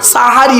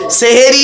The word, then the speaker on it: সাহারি: রাতের শেষ অংশের খাবারকে আরবিতে সাহারি বলে তাহলে শব্দটা কি হবে সেহেরি না সাহারি সাহারি ভুলটা ভাঙলো চলুন আগিয়ে